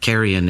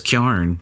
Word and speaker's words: carrion: Carrion is an ACT word. But gearing, everybody who's you know says gearing, that's just the the regional pronunciation of carrion.